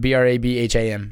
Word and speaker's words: Brabham: Brabham, don't know how to say it. That's but fine. It's Brabham. Better than I can do. Yeah. I was thinking like Bradham, like the linebacker for the Eagles.